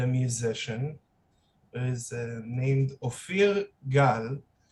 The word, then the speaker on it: Ophir Gal: musician that is named ophir gal which is the correct hebrew pronunciation how are you feeling